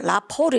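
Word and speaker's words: rapport: 그 다음 오른쪽에 있는 단어도 발음대로 많이 읽어버립니다. 라포르 이렇게 혹시 들어봤나요? 라포르.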